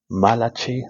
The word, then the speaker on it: Malachi: Malachi, I believe, is how you say it in Hebrew, if I'm not mistaken.